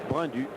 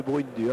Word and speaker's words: Brundu: Hubert Brundu, c'est la bonne prononciation? Brindu. Brindu, c'est mieux que Brundu, hein. Ça fait Burunda.